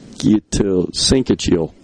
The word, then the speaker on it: syncytial: Syncytial.